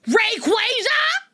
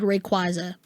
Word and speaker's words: Rayquaza: Let me pronounce it correctly. Rayquaza. Rayquaza. I'm sorry. I'm mad. I'm so mad that this that is technically the official pronunciation cuz I've always said Rayquaza.